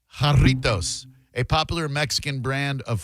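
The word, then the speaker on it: Jarritos: Uh, but no, it's it's Hispanic, so it's pronounced Hartos. Jartos, as I said, Hartos, a popular Mexican brand of flu fruit flavored carbonated soft drinks founded in 1950.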